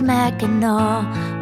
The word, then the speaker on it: Mackinac: You know it's not pronounced Mackinac, it's Mackinac, Mackinac. It's an Indian name, but it almost sounds French.